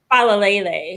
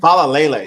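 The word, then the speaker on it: Faalele: Am I'm saying it right? Fallay. Am I saying it correctly? Falle. Falle. Thank you. Falle.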